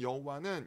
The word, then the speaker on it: 여호와: 우리가 발음하는 여호와는 이 야훼의 자음에 아까 점 4개 찍었던 나의 주님이라는 아도나이의 모음을 붙여서 여호와라고 발음합니다.